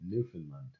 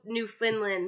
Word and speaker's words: Newfoundland: best French recounted how the new Faolain please pronounce keren Newfoundland incident unfolded decades ago in the early 1950s after two UFOs were seen by many people off the coast of st.